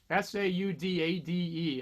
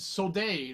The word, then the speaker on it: saudade: So I used to think it said soldade or soldade or something, but it's pronounced saudade, and it's a Portuguese word.